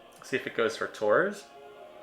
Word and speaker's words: Tours: See if it goes for Tours. Or Tor, if I'm using the French pronunciation.